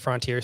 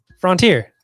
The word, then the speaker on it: frontier: after after the infinite frontier stuff you're fine after that you keep saying it wrong frontier it's frontier front infinite frontier please continue